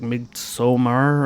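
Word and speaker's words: Midsommar: saying that yeah now some people pronounce it weird like mid somar or whatever I just say mid-summer It's A Midsummer [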